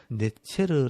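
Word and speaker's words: נצר: 여기 서 " 쏘다 " 라는 단어는 히브리어 로 " 네체르 " 라고 발음 됩니다 .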